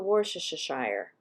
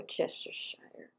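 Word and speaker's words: Worcestershire: we're going into the worship shire yes that's how i say it and i think that's how it said i don't think it's so hard to say but i do all syllables we're chester shire anyway just a little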